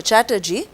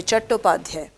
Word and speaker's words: Chattopadhyay: anandmat was written by bankim chandra chattopadhyay they also call him as bankim chandra chatterjee but in bengali they say chattopadhyay now if this question